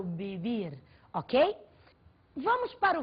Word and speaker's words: vivir: vros vras vias vi você deve estar estranhando a pronúncia do V em português V em espanhol V tem o som de muito próximo a b do português portanto eu não falo vivir eu falo viir ok Vamos para o